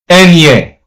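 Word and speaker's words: eñe: So the letter N is pronounced as Enye.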